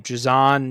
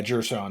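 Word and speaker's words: Jer'Zhan: Jazon Newton. He Oh, falls to. Oh, yeah. go ahead. Yeah, Jershon Newton. Yeah, you get it. You said it right.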